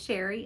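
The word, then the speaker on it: Chere: My name is Sherry and that is spelled C-H-E-R-E. It is spelled a little fancy but pronounced plain old Sherry.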